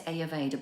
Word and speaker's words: Ayurveda: In Ayurveda, I always say Ayurveda, but it's spelled Ayurveda.